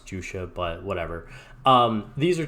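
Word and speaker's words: Juxia: here of jua um or juia however you want to pronounce it I believe it is actually pronounce jua but whatever um these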